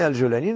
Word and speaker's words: Al-Joulani: Avant d'en arriver à Al-Joulani, je le prononce à la française. Exactement, c'est Al-Joulani, non, c'est comme ça.